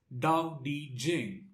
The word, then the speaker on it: Tao Te Ching: lot sweet likewise for tao teaching it is also pronounced as dao di jing in chinese so the lotsu he's